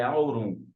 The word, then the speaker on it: aurum: a palavra ouro ela vem do latim ela tem origem ela pronúncia dela é aurum que significa brilhante e